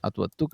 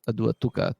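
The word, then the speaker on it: Atuatuca: itself probably meant fortress the pronunciation at what took with the t is considered to be the original despite many latin documents using a d the modern city of tongaren referred to as aduatuca tungrow in later roman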